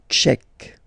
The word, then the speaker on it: tchèque: La République tchèque. So remember, Q-U-E, K, Tchèque. La, and then here as well, République. La République tchèque.